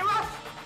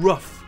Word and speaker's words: rough: Do you want to play rough? Okay. Who's a tough guy? Who's a tough guy? Les trois se prononcent œuf. Personnellement, j'étais convaincu qu'ils pouvaient se prononcer enough ou rough. Mais c'est bien enough et rough.